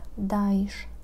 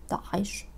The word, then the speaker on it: Daesh: Pewnie słyszeliście wersję Daesh, Daesh, czy taką najbliższą oryginałowi Daesh. Jakkolwiek zdaję sobie sprawę, że wymawianie Ain z kesrą jest po prostu trudne. Stąd też taka bardzo uproszczona wersja Daesh.